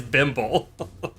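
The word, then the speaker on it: Bimble: do you spell that b-i-m-b-l-e okay okay bimbo like thimble but all right bimbo oh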